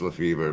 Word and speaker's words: Lefebvre: It's actually pronounced Lefevre, but it's spelled Lefebvre.